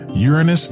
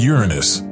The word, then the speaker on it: Uranus: agree on the topic it even has two ways to pronounce it Uranus and Uranus additionally unique is the